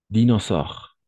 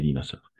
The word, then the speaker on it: dinosaure: Dinosaure. Dinosaure. Anna. Dinosaure. A et U, on va prononcer comme un O, d'accord? Dinosaure. O.